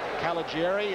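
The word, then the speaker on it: Caliguiri: happens understand the mayor mayor calageri I guess is the way it's pronounced he's got a group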